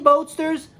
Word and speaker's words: Boatsters: Boatsters is like Roadster. Roadster, like the car. Boatster. It's got movement. It's got energy. It's got drive. It's got passion. It's got speed. Yeah, so Dean Boatsters rhymes with Roadsters.